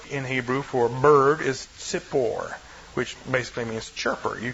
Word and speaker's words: tzipor: The word in Hebrew for bird is tzipor, which basically means chirper.